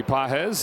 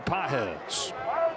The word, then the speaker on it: Pages: They're from different countries, right? Andy's from Cuba. Pedro's from Venezuela. Pedro has the emphasis over the second syllable. Andy doesn't have any. He doesn't have any syllables?